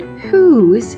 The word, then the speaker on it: whose: in our sound boxes the first sound in the word who's is H this is spelled with the diagraph wh we need to stop right here we usually spell the sound H with the letter H by itself this is exciting friends